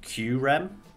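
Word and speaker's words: Kyurem: the fact that kyram i looked it up it's spelt is like q rem i think that's how it says to pronounce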